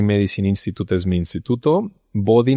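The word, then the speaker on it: Bodhi: Body no es body como cuerpo, es body de conciencia en sánscrito que se escribe BR o B H I latina.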